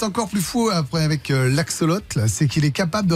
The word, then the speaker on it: axolotl: Alors, je le prononce tol, mais ça peut être l'axolotl, parce qu'il n'y a pas de à la fin. A-X-O-L-O-T-L, je pense que vous ne connaissez pas. Ouais, l'axolotl.